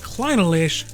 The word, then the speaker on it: Clynelish: That's how you say it, which is this Clynelish 12.